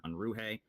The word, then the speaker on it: Unruhe: So today we are going to have a very special guest, Jason Unruhe.